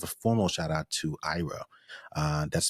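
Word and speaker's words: Eira: want to give a formal shout out to Ira. That's spelled E-I-R-A. You'll be proud to know that I had to Google that because I didn't want to mispronounce it. So it's pronounced Ira.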